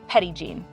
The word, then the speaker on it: Petit Jean: Little John in French the locals pronounce it Petty Jean Petty Jean's true identity